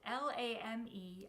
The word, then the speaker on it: lame: Bakers use a razor blade to cut the dough, and the French word is spelled L-A-M-E. I believe the correct pronunciation is lame.